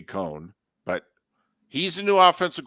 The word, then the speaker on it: Coen: interested in going back so Liam Cohen Coen pretty sure that's how you pronounce his last name all right could be con but he's a new